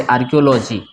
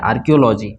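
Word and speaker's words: archaeology: ठीक है इसके बाद इसको पढ़ेंगे आर्कियोलॉजी इसको क्या पढ़ेंगे आर्कियोलॉजी इसमें ह जो है वो साइलेंट है आर्कियोलॉजी ठीक है ना इसको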